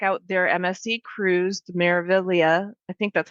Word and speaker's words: Meraviglia: their MSC cruise, the Meraviglia. I think that's how you say it. It's kind of tricky. It's got a silent G in there, like lasagna, Well, and I think but people say it differently.